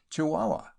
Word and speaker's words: Chihuahua: used to write fondly pronounced chihuahua in London but locally Chihuahua I broke my journey